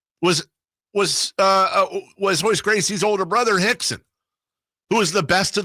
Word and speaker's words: Rickson: the whole thing was Royce Gracie's older brother, Rickson, who was the best of the bunch, who was huge. Not huge, but go look at a picture of Rickson Gracie back in the day.